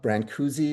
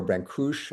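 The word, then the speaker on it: Brâncuși: I studied uh Brancuzi or Branush, I think it's properly pronounced, the sculptor in college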